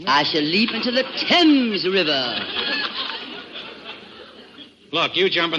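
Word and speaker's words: Thames: probably end it all by leaping into the fames River oh Mr Marx it's pronounced temps River that's what the stomach isn't it I shall leap into the temps River look you jump in the river you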